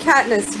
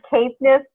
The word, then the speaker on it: Caithness: Erin of Caithness, you are up. It's actually Caithness, but that's okay. You're not the first one to mispronounce that.